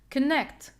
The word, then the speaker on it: connect: Connect is a verb and it is 2 syllables. So in general rule, in verb with 2 syllables, we have to stress or put this primary stress on the second part or the second syllable. Okay, so this is the primary stress. To make sure, I cannot stress this k because we have schwa sound. So this is a weak syllable.